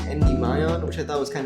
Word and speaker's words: Endymion: I never knew how to say his name, so I just said Endymon, but one of my friends told me it was Endymion, which I thought was kind of dumb.